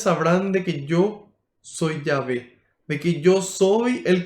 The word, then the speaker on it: Yahvé: Esas son las 4 letras y al agregarle vocales entonces se pronuncia Yahvé, porque el hebreo no posee vocales, son todas consonantes, YH, WH. En español, Yahvé.